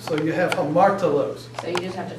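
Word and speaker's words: ἁμαρτωλός: The rough breathing always is pronounced with an H sound. So you have hamartolos.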